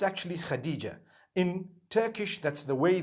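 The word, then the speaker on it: Hatice: across the name Khadijah in Turkish some people spell it h a t i c e I would say hatis for that no it's actually Khadijah in Turkish that's the way they write it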